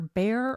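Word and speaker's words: Bexar: A former now is either Bear or Beexar County. not being from Texas. I know some people say don't pronounce the X. So, is he either Bear or Beexar County DA?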